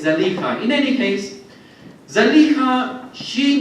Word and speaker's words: Zuleika: servant of Aziz and his wife Zuleika, or perhaps more correctly Zalika. But it is probably more well known in our community to pronounce the name as Zuleika, but it seems actually the more correct pronunciation is Zalika.